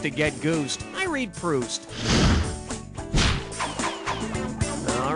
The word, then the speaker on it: Proust: Choose the word that rhymes with the correct pronunciation of this famous author's name. Boozed, soused.